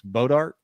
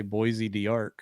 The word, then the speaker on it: Bois d'Arc: the new super lake, which I always mispronounce, but I believe it's Bodark. Is that right? Yep, that's how I say it. I want to say Bois D'Arc or some craziness.